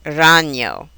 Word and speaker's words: ragno: Also, the letters GN give a ñ sound, like the Spanish N with a tilde, or in the word canyon. Examples would be montaña or ragno.